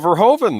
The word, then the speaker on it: Verhoeven: You forgot Paul Verhoeven, though, Daniel Herron, the great director of Paul Verhoeven, directed this.